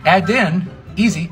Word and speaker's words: Edinburgh: I am greatly indebted here it is add in easy it's three syllables easy enough right oop